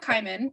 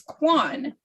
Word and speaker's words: Quan: So her last name is not Kyman, it's Quan.